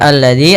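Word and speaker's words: الذي: pelafalannya Ar aritadzi Kemudian pada lafal alladzi ada alif lam syamsiah yaitu alif lam yang kita tulis tapi tidak kita baca lamnya Tapi sehingga ini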